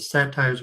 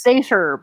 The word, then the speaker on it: satyr: I think it's pronounced satyr, but okay. It's the origin of the word satire. Right.